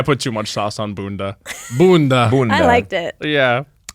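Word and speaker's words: Bünda: And I think you need to say it like Bunda. There you go. Okay, well, it did live inside me. I think maybe I put too much sauce on Bunda.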